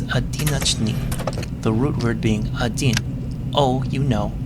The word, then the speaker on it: один: The second letter, which looks like a house, is the letter D. The backwards N is pronounced E, and the letter that looks like a capital H is the N.